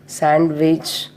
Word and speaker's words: sandwich: First one is when it come before N or after N, the letter D is silent. For example, Wednesday, handsome, handkerchief, sandwich, like this.